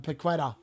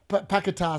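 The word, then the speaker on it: Paquetá: Paqueta's just been carded as well. That is Paqueta, sorry. That's how you say his name, Paqueta. I call him Paqueta all the time.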